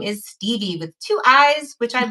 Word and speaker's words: Stevii: from the great state of North Carolina I'm Stevie Dr Stevie just Stevie it depends on